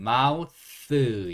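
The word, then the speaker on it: mouth: 이렇게 읽어요 마우스 마 사실요 th 발음이 굉장히 힘들어요 그래서 너무 어려우시면 그냥 쓰 쓰 이렇게 하셔도 돼요 th 어떻게 소리 낸다고요 쓰 물론이 발음이 아닌데 진짜 제대로 된 그 원어민 발음을 하기는 너무 어려우니까 그냥 궁여지책으로 스 이렇게 소리 난다고 보시면 되고 여기가 마 그다음에 우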